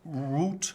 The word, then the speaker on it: route: I was well on root or route I'll accept either pronunciation from myself to score a grand